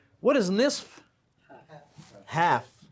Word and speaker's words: نصف: What is nisf? Half. A lot of people don't pronounce that fat, keep in mind, on the word nisf. They just say nus. The real word is what? Nisf.